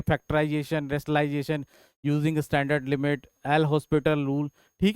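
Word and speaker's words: L'Hôpital: तो बेटा ये 0/0 फॉर्म दे रहा है, तो इसका मतलब इसमें हम एल हॉस्पिटल रूल लगा सकते हैं। क्या कर सकते हैं, अप्लाई एल हॉस्पिटल, हॉपिटल भी बोलते हैं, प्रोनाउंसिएशन कई जगह हॉपिटल भी बोलते हैं, एल हॉस्पिटल रूल।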